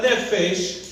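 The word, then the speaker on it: נפש: Y ahora nefesh suena como está escrito N-E-F-E-S-H, nefesh.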